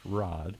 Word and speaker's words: Raad: looks like it's Rad but it's spelled it's pronounced Rod where does that name come from exactly wow